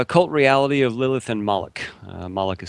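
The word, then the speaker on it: Molech: Um, yeah, I titled it cult reality of Lilith and Mollik. Uh, Malikica is spelled M O L E C H.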